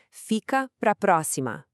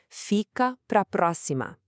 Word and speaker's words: Fica pra próxima: We have this enthusiastic peak right at the start with fi, a little valley with capra, and then another big peak with pro before cascading down the cima.